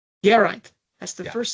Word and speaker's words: Geraint: Emphasize the second syllable, Geraint. Geraint.